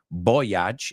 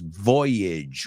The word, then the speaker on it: voyage: pronounce that word too it's not boage it's Voyage remac Bridge he his